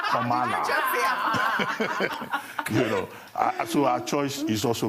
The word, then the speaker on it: Kamala: She says it's not Kamala or Amala, it's Kamala.